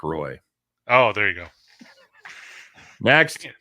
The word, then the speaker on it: Roy: of ever since Patrick Roy left. Yes. See, even I know that's not how you say it. Well, see, I thought you were just going to go along with it. It's Patrick Roy.